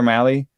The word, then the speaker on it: Mahle: Those two, and maybe Tyler Mahle, which you have to actually emphasize the whiteness when you say. Mahle, like rally, it says on the pronunciation guide.